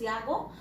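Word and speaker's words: Jago: Solpen Yago, pronounced as Yago, and he's out on a beneficial trip with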